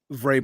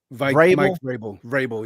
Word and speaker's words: Vrabel: Vrabel. Mike Vrabel, yes.